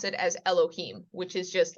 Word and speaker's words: Elohim: of it this is Elohim once again silent letter this indicates an uh an e sound this is an l o h i uh that's a vowel symbol for the I am so that's Elohim and then you see